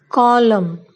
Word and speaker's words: column: N is silent when it comes after M. For example, column, dam, solemn, autumn, hymn.